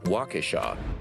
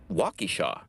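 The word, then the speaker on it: Waukesha: pronouncing okon walk or walk Shaw or is it Walky Shaw but rest assured at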